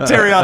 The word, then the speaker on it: Terrion: no no look look you said it wrong tyion Arnold Walker Hayes jaylor mural are